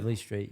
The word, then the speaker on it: Eveleigh Street: Mate, growing up on, so is it Eveleigh Street? Is that how you pronounce it? Eveleigh Street, yeah.